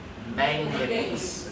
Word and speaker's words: manganese: manganese. Okay, it's got 3 syllables. Manganese. Okay, not mayonnaise.